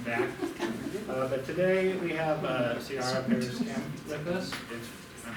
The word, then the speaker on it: Ciara Pares: But today we have Ciara Pares Kempf with us, if I'm pronouncing that correctly.